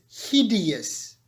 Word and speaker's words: hideous: you even say it careful with the pronunciation there are three syllables here see yes so it's hideous hideous structures instead of